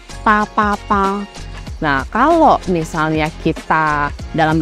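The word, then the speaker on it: 八八八: eh 888 karena di kalau di dalam pronunciation dalam bahasa Mandarin itu PA PA PA Nah kalau misalnya kita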